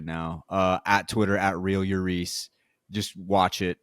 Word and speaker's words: Euriece: Oh, I was just saying that for those to be clear, that it's real Euriece on Twitter, not real Eurice, Yeah, exactly. which is a very common, mispronunciation.